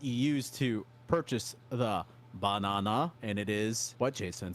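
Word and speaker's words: バナナ: I'm sure Donkey Kong is uh it it's banana and how do you pronounce that Jay Sensei banana but not not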